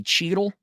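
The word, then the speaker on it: Cheatle: And everyone, including Kimberly Cheadle, that's how you pronounce the name.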